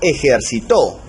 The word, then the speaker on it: ejercitó: Por ejemplo, aquí tenemos la palabra ejercitó. Como lleva la sílaba tónica en la última, ¿no? En la última sílaba, la palabra va a ser aguda. Y como termina en vocal, va a llevar tilde, ¿verdad?